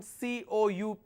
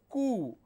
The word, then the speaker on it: coup: The fourth one, COUP, means coup, like K-O-O, coup, that's all.